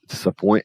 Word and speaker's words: disappoint: Fica disappoint. Lembrando que em disappoint eu tenho isso aqui, esse S. Não tem quarta vocal, não é disa, é dissa.